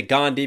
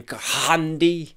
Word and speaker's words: Gandhi: And the bar before that was just as good too, playing off of the Gandhi, because we don't pronounce the H in his name, Ghandi.